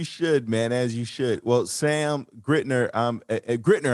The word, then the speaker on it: Grittner: well sam grittner um grittner am i pronouncing your last name correctly i didn't even ask you yeah uh no that's that's correct i am i'm excited